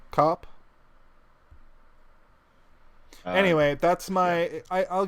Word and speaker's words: Koepp: I don't think you elongate Koepp? the O though. Koepp.